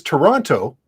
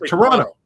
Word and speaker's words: Toronto: T oh Toronto right the correct pronunciation really is Toronto but people up here don't say that it's like Toronto yeah it's like that